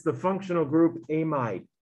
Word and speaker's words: amide: and here it is it is not what you learned to be an amide before so don't say it that way lithium diisopropyl amid i know we never